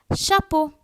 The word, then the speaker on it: chapeau: C-H is always pronounced as sh. That's how we have chapeau.